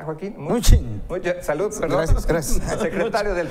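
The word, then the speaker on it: Mnuchin: ¿qué es, cómo se pronuncia, Joaquín? Muchín.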